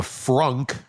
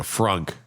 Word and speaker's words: frunk: was found in the frunk of a Tesla. That's not me mispronouncing things because I'm sick right now. It's literally a frunk. It's the front trunk of a Tesla.